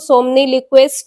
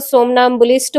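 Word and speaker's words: somnambulist: अगर आप लोग इसे बोलते हैं तो सोमनिलिक्विस्ट हो जाएगा, लेकिन इसका सही प्रोनाउंसिएशन आपका सोमनाम्बुलिस्ट हो जाएगा।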